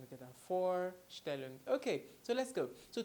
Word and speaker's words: Vorstellen: me for still well it's quite easy like the number for which you already know in English and then still look for standard so let's try the pronunciation together for Stalin okay so let's go